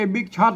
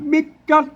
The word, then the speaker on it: บิ๊กจ๊อด: นะ ครับ ไม่ ใช่ บิ๊กช็อต นะ ครับ อ่า ไม่ ใช่ บิ๊กช็อต นะ ครับ อ่า บิ๊กจ๊อด เลย เห็น มั้ย อ่า อัน ข้าง